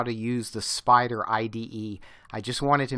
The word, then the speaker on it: Spyder: before I showed you how to use the spider IDE I just wanted to make sure that